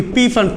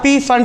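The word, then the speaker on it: Pfund: P fund. P is silent here, so we call it as fund series for IR.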